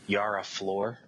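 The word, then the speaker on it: Yara Flor: her name it was I mispronounced her name last time we spoke about it but it's a Yar floor okay floor I mean I'm interested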